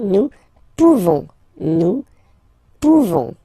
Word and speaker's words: pouvons: Nous pouvons, okay? You don't pronounce the final S.